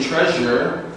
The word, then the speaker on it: treasure: the regular sh sound we have treasure when we say treasure it almost sounds as if we're saying z okay so we can